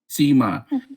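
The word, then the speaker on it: Sema: Am I saying Sima or is it Simi or is it Sima? Sima.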